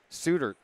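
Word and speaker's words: Soetaert: Suter. I'm like looking at the spelling. Well, how do you get Stewart out of that?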